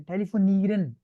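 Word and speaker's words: telefonieren: टेलीफोनीरन, अच्छा आप लोगों को पता नहीं है इसमें क्यों प्रोनाउंसिएशन एंड पे ना ईरन, आप सिर्फ ईरन बोलो, ईरन बोलो, ईरन, ईरन, ईरन, ड नहीं आया, ईरन। ईरन, अवैस आप करो, ईरन। ईरन, ठीक है, टेलीफोन ईरन।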